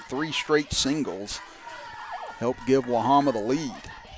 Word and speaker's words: Wahama: Again, it was two outs and a runner at first and then three straight singles helped give Wahama the lead. That is the way our name's pronounced, Chris.